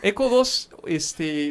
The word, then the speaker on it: ECO2: ECO2, lo que pasa es que se escribe ECO al cuadrado, pero la mayoría siempre decimos ECO2.